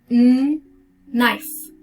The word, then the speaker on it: knife: Next, so even with K and N, K is silent, so we start with knife, knife.